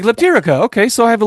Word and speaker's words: Leptirica: And he goes, it's Leptirica. And I was like, Leptirica. Okay, so I have a little bit of an accent. And he goes, that's not even close.